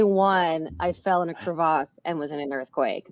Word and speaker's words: crevasse: for anyone right yeah actually pronunciate it crevasse is crevasse the actual pronunciation I like that it